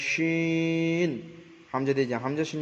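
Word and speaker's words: شين: শিন জিবের মাঝখানে, যেটা বড় শিন বলা হয়, অর্থাৎ তালবস্বরে উচ্চারণ করা হবে, শিন। হামজা দিয়ে দেন জিবের মাঝখান, তার বরাবর উপরে তালুর সঙ্গে লাগিয়ে উচ্চারিত হয় শিন।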